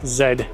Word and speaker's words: Z: And yes, I'm here in Canada and we pronounce Z as Zed.